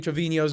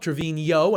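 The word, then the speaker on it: Treviño: in my last video I was actually pronouncing Ashley Trevino's name correctly with the N with the accent on top, Trevino and not Trevino.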